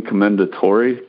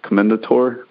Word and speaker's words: Commendatore: way through I don't even know how to pronounce it killing commendatori Commendatore the rookie Murakami's new one and it's yeah